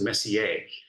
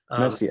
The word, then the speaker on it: Messier: grown-ups here when you try to tackle the Messier challenge way it's pronounced Messier Messier okay one of our very own snap students